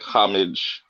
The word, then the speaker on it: homage: I know different people like homage. Everybody's pronounces it differently. It's homage. I like to put like a French take The on it. H is silent. Homage is how I say it.